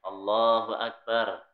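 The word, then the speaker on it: الله أكبر: ee pahami cara membacanya Allahu akbar Allahu akbar Allahnya yang agak panjang lamnya Allahu Akbar Allahu Akbar yang panjang dipanjangin yang pendek dipendekkan ya tidak boleh yang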